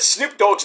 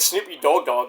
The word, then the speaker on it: Snoop Dogg: And we had to tell her, like, "You said Snoop Dogg's name wrong. You said Snoopy Dogg Dogg."